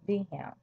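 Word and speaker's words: Wilhelm: In 1862, Otto Binbar uh Bismar was appointed Chancellor of Prussia by King Vham and in German you pronounce a W as a V.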